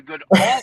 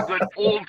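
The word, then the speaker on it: Goodall: It's the good all cup, not the good old cup.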